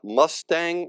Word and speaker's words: Mustang: treat animals oh interesting did you say m Mustang or must it's it's called It's pronounced Mustang but it's spelled like the car